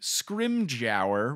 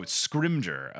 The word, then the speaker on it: Scrimgeour: fudge says that the new minister is named scrim Gower which is not a name is that how it's pronounced is it screams Oh Scrimgeour okay yeah regardless not a name again made-up